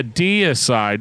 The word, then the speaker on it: Deicide: They just let me say it wrong pretty much my entire life until one day I was like, oh yeah, Deicide.